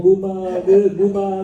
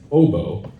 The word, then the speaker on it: Booba: they'd be like, "Oh, Booba this and Booba that," and like I thought it was kind of cringeworthy, and I wanted to make fun of them, and so I intentionally mispronounced it as Bobo, and I was like,